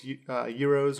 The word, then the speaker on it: gyros: He sells euros or gyros, or what do we call them? Or euros. I want to call them euros because that's how you pronounce it.